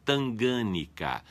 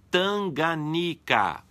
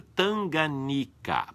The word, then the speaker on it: Tanganica: O nome é Tanganica, sem acento, palavra paroxítona. Como não há acento na antepenúltima sílaba, a pronúncia tem que ser Tanganica, certo?